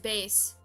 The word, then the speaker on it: bass: i thought uh also it's pronounced bass for the instrument confusing yeah i know